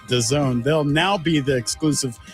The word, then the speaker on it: DAZN: Dazn pronounced The Zone.